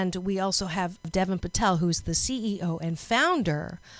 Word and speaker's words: Deven Patel: I think I said your name wrong. Deven Patel, correct?